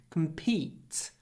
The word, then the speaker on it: compete: business we can't compete don't say com compete because the stress is on E compete we can't compete and